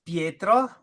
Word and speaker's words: Pietro: Is it Pietro? Okay, it's Pietro.